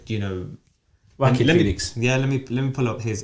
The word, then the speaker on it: Joaquin Phoenix: Joaquin as in like whack-a-mole.